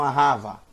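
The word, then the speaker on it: אהבה: li a rawa não ahava ahava va1 porque o último sinal massorético é um câmera acento agudo luar arrava Ah vá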